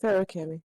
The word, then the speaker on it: Feruchemy: Ferochemy, thank you.